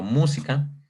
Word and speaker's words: música: Por ejemplo, música se divide en 3 sílabas, ¿de acuerdo? Está mu, si, ca. Música, son 3 sílabas.